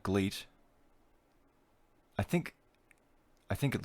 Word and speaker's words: GLEAT: that the same way so it'd be gleat like bleat like billy goat like